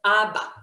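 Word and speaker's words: אבא: makes it a consonant when we have the aleph at the end it's silent right just like the a the letter a in the abc so ah the first a is a consonant the last one is quiet okay exactly great okay ah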